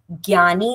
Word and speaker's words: ज्ञानी: सकता है क्योंकि रीजनली ज्ञानी जो वर्ड है उसको महाराष्ट्र प्रांत में अलग कहते हैं यूपी साइड और अगर एग्जैक्ट प्रोनाउंसिएशन आप पूछें तो वो ज्ञा ज प्लस य है तो ज्ञा होता है।